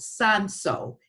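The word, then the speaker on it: Cinsault: is a red grape it's called Sun so but it spells see I add sa ult it's kind of a weird pronunciation for how the word is spelled but it is typically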